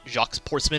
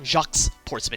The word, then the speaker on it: Jacques Portsman: I don't have a lot of positive things to say about Jacques Portsman, especially because you need to mispronounce his name to get the joke. Like, his name, it's not Jacques Portsman, it's Jacques Portsman.